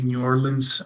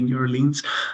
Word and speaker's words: New Orleans: Uh locals say New Orleans, Brits say New Orleans.